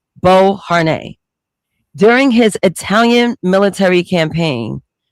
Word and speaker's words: Beauharnais: That's how you pronounce the last name, Beauharnais.